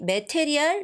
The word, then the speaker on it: material: Material? No. Material. Material. The second syllable. Material, guys, okay?